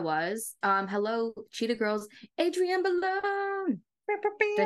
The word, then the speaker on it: Bailon: Hello, Cheetah Girls, Adrienne Bailon. Did I say her last name wrong? Yeah, Bailon.